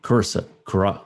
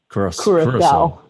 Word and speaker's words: Curaçao: Oh, no, Curacao. Yeah, I'm saying that wrong. The correct way to say that is Curaçao.